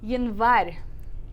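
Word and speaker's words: январь: So here it's the first letter, so we keep the y sound. So it's Januari. Januari. Yeah, Januari, which means January. Okay.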